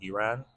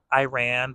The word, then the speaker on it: Iran: No, well, that's the American way, but like the Arab way, I guess, is Iran.